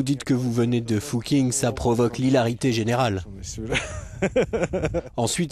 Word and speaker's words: Fucking: habitants de la commune dont le nom se prononce en fait fou king en allemand veulent en changer l'un